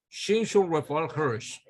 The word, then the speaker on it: Shimshon Raphael Hirsch: Yo escuché a Rabino Viñas leyendo el nombre de ese rabino y oye cómo es que lo pronuncia. Rab Shimshon Raphael Hirsch.